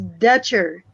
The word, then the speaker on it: Dutcher: like to say that how to pronounce my last name is dutcher dutcher yeah yeah